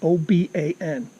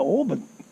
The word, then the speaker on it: Oban: through the city of Oba n my wife asked someone are we on the right road to Oban and all three people behind the counter said oh you're going to open so correct you but